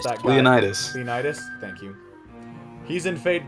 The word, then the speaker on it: Leonidas: Leo need us I don't know how to pronounce that Leonidas Leonidas thank you he's in fate go though that's